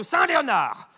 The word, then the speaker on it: Saint-Léonard: Depuis mardi, le rétablissement de Saint-Léonard, hein, avec un D, mais on ne le prononce pas.